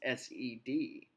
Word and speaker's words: said: SAID is said, and it's pronounced SED.